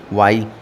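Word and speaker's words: what: के बाद देखिएगा एक वर्ड है आपने देखा है डब्लू एच वा इसमें आज साइलेंट है इसको आप क्या पढ़ते हैं वा क्या पढ़ते हैं वा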